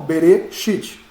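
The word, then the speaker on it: בראשית: Berê, shit. A tonicidade está no shit.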